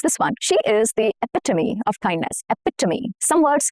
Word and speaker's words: epitome: Here the stress falls on the second syllable, which is epitome. Epitome, okay? The second syllable is the important syllable, the stress syllable.